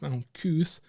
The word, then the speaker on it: Malkuth: So Malkuth, and also obviously it's transliterated into English characters. So it's Mem, Lamed, Kaf, Vowel, Tau. And in this case, Tau is at the end, so it's pronounced Malkuth.